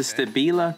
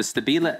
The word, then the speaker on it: Stabila: showing this this is the Stabila that's right that's the correct pronunciation the Stabila La 180 laser layout